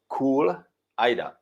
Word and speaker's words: Kulajda: So we will be making bread, Czech sourdough, and we'll be making a soup that is called Kulajda.